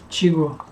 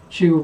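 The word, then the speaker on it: Tycho: na mathias nome e o ch tem um som de g tiggo tiggo para é certo então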